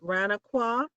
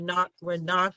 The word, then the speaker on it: Ranaqua: down at their headquarters at Ranaqua near Bronx Park East. I'm sorry, Renagua. I always say that name wrong.